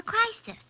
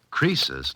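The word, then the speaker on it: Croesus: now he's a regular crisis a what don't you know Mr holiday crisis was a rich King oh don't you know Susie creases not crisis was a rich King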